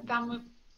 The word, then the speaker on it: thaumaturgy: Can I use how do you say the thaumaturgy?